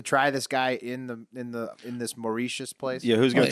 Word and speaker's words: Mauritius: It's pronounced Mauritius.